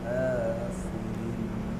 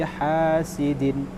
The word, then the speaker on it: حاسد: Wa min syarri hasidin. ومن شر حاسد إذا حسد. Hurufnya ha bukan ha, ini dia. Hasad. Hurufnya ha bukan ha. Ini hurufnya ha bukan ha. ومن شر حاسد.